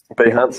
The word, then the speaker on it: Behance: I'm just on, is it Behance? Is that how you say it? Yep, Behance is the one, yes.